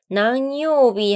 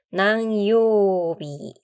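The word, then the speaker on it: 何曜日: 난요비 할 때 우 장음이에요. 난요비.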